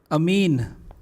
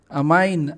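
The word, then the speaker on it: amine: भी लिख देता हूँ, अमीन, अमाइन। अरे वो अलग अलग राज्यों में अलग अलग, हिंदी माध्यम अंग्रेजी माध्यम के बच्चे अलग अलग तरीके से प्रोनाउंस करते हैं, इसमें प्रोनाउंसिएशन में कोई दिक्कत नहीं आनी चाहिए। कुछ अमेरिकन बोलते हैं, कुछ ब्रिटिश बोलते हैं, जो अच्छा लगे, हम इंडियन बोलते हैं, ओके।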